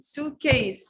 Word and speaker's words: suitcase: say the correct pronunciation suitcase suitcase and we stress on the first words you see the apostrophe